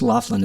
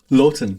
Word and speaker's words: Laughton: I didn't do it it's it's Laughlin isn't no it isn't Lon Lon see there we go